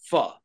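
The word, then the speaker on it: phở: I eat, now I'm going to use the American pronunciation pho, which is properly, I think the pronunciation is pho, actually. Is it Vietnamese, pho?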